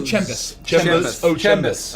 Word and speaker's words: Chem Boss: I believe it's pronounced Chimbos. Oh, it's actually Chembus.